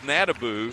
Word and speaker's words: Nadabu: Their pronunciation guide says Nadabu, so we'll go with Nadabu if what they're going to call her here, but that's not what they said.